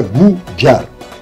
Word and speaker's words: Кудар: ударами и так далее имя слово кудар в виде произносится гуджар дальше у войнахов есть